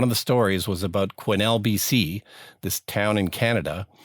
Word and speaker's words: Quesnel: no it's spelled quesnel there's an s in there it's it's a weird spelling but it's pronounced quinnell but here i am